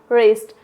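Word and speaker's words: wrist: Next one इज, यदि आर से पहले डब्लू आ जाए, आर से पहले डब्लू आ जाए तो क्या पढ़ेंगे, wrong, राइट, rap, wrapper, wrinkle, रिस्ट, तो यहाँ पे क्या है, डब्लू साइलेंट लेटर है।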